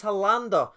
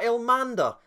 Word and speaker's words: Hollander: Now please note, by the way, his name is Hollander, not Elmander.